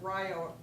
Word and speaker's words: Rio: Part of what I did when I was at, we can pronounce it Rio, like Ohio, and there's a longer